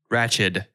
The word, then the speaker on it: Ratched: both of you to out loud say her name ratched it's with the dequeue okay i was just